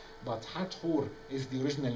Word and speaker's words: Hathor: And I insist always on pronouncing the name in the Egyptian way, because it has a meaning.